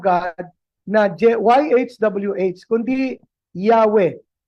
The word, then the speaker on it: Yahweh: Kaya hindi po nila ito mababago sapagkat kahit na-acknowledge nila ang tamang bikas ay hindi Jehova kundi Yahwe.